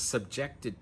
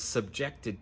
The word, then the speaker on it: subject: The girl was subjected to a lot of bullying at school. So again, the stress is on the second syllable, subject. For the noun, we say subject.